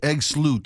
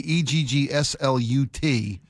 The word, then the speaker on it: Eggslut: there's no way EGGSLUT is the name of this restaurant that's not pronounced Egg Sloot. Apparently it is.